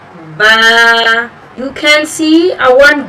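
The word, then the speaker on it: ب: The point of articulation of Ba is bringing lips together, joining lips together actually for the letter Ba.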